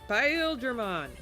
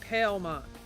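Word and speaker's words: Paildramon: It's like, it's Paldramon. It's not Palemon. Paldramon. Like, the amount of arguments we had because of that. And every time we'd watch a friggin' episode. The Pale pronunciation makes him sound like a bucket.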